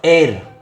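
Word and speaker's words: heir: ये है बच्चों एयर, ये एयर है। तो जब ये एयर है तो इसका पहला साउंड, इसका एच साइलेंट रहता है, तो एयर में हम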